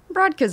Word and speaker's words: Brodka: Brodka's good. Okay. Well, like in Polish, it's Brodka. Oh, nobody says well, let me say it the right way. Brodka. Wow, you can roll your R's.